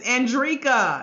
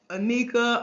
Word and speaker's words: Andrieka: My full name is Andrieka, and I done been everything but Anika, Andrea, Andrieka.